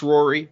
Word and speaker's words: Ruairi: So the second one is from Rory, and they say it is pronounced Rory, but curious to hear your attempts at pronouncing it. Well, I mean, I'm not going to pronounce it another way now that I know how it's pronounced, but it's spelled Ruairi, so I'm not sure